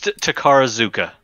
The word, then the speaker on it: Takarazuka: It's Takarazuka. Okay. That's how you pronounce it.